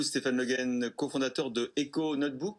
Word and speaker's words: econotebk: Merci beaucoup Stéphane Le Guen, cofondateur de Eco Notebook. Comment vous prononcez? EcoNotebook, c'est ça. Eco Notebook, voilà, vous voyez finalement. J'ai mal prononcé. Parce qu'il Désolée. manque, en même temps, il manque 2 O dans le nom de la marque.